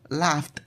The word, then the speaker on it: laughed: Examples are laughed, laughed with a t, laughed.